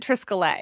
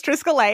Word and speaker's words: Triskele: Alison: Well, Boyd pronounces it triscolae. Emily: He does. Triscalet. Alison: Yeah. Emily: Although Boyd know how to pronounce, it. Alison: I don't know. But Boyd is the smartest person in that room, so he says, you know, he says Triscolay, and I believe Boyd.